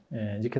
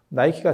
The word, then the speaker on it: 니케: 니케 나이키는 영어 발음 때문에 나오는 거예요. 그래서 그게 승리의 여신이거든요. 그래서 나이키가 승리의 여신 뭐 이렇게 해서 광고를 예전에 한 적도 있죠.